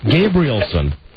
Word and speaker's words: Gabrielson: So the E is sort of silent then.